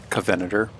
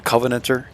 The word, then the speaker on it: Covenanter: at the covenanter um I've always pronounced this tank is the covenator but the covenanter guys um I've been pronouncing